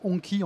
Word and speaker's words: Hongqi: En fait, Hongqi, c'est la prononciation chinoise, puisqu'on peut dire Hongqi en français.